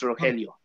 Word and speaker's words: Rogelio: name wrong rogelio yeah the g is a h so it's rogelio close enough this was